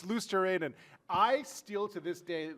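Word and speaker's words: Luostarinen: Oh, I would have try. said Lou Starnen. It is. It's Luosterainen.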